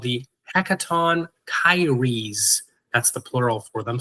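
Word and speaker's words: Hecatoncheires: These ones that you're looking at here on screen are called the Hecaton Kyres.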